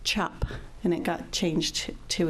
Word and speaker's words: Czap: through Ellis Island, and it was spelled CZAP, but pronounced chop, and it got changed to a U.